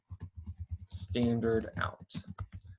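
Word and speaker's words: stdout: goes to std out which is pronounced standard out so the std stands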